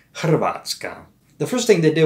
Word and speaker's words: Hrvatska: For one, Vulgar Latins didn't really pronounce the H. And then we had a cluster of three consonants in a row, Hrvatska.